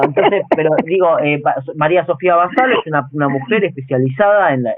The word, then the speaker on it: Vassallo: Porque bueno, volvemos a hablar, sos María Sofía Vassallo, se escribe Vasallo, pero de Vassallo ya no tenés nada. Claro, porque ¿cómo se dice? Yo le digo Vassallo, ¿no? Es Vassallo. Vassallo, así, perfecto.